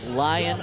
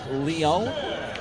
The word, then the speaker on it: Lyon: with LSU Shreveport, and I'm going to say not Lion, but Lyon in the American Midwest Conference. It might be Lion. Maybe. Well, we are in America. I'm partial to the French pronunciation.